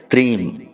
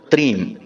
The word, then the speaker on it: त्रीम: तो आप ध्यान से सुनिए, इस मंत्र का उच्चारण हमें करना है त्रीम। जी हाँ मित्रों, त्रीम।